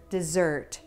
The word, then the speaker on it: dessert: example the the word dessert purple shirt dessert dessert has stress on the second syllable but if you place the stress on the first syllable it might become desert red pepper desert a